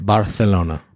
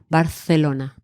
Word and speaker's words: Barcelona: Barcelona. Barcelona. Barcelona. Okay, very good. You pronounce your R and your th.